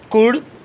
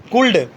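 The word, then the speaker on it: could: देखते हैं, शुड, वुड, कुड, talk, ऐसे नहीं बोलना, वुल्ड, शुल्ड, कुल्ड, ठीक है। कल मैं इंग्लिश पढ़ा रहा था तो एक लड़की प्रोनाउंस कर रही थी वुल्ड, ऐसा नहीं होता कभी भी वुड। क्यों? क्योंकि डी के जस्ट पहले एल है तो यहाँ पर एल साइलेंट होगा।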